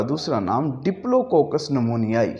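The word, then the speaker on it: pneumonia: We start with, अगर कोई biology में वर्ड स्टार्ट हो P से और साथ उसके N हो तो हम P पर ख़ामोश रहते हैं और N से उस वर्ड को प्रोनाउंस करना शुरू करते हैं। फॉर एग्ज़ाम्पल, आपके सामने दो अल्फाज मैंने तहरीर किए। वन इज़ नमूनिया, so here is ए P जो खामोश रहेगा।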